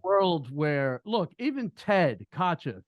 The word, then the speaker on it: Kotcheff: The fact that Ted Kutchin, how do you say it? Kotcheff, sorry.